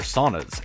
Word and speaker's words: sauna: Haircut, massage, and people in a sauna. Saunas have been around for a while, the first written record in 1112 in Finland. Finland loves their saunas.